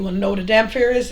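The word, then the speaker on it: dhampir: a Damar you want to know what a Damar is it's spelled d h a m p h i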